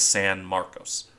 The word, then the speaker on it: San Marcos: sure on the pronunciation the Spanish one is San Marcos but apparently the city in Texas her Nam sake is more like San Marcus I'm sure a Texon